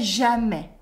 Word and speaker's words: jamais: Je ne sais jamais. I never know. Repeat after me. Je ne sais jamais. Again, je ne sais jamais. The S at the end of jamais is silent, okay?